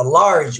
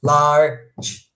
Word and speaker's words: large: A palavra large, muita gente, na hora que vai separar a palavra large, separa, né, 2 sílabas, mas não é, é uma só. Já no português é large.